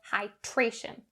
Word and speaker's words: hydration: For the pronunciation for these words, we're going to concentrate on the dr sound. It is important to make sure that this dr is pronounced clearly and accurately. Don't change it to the tr sound. That's not correct.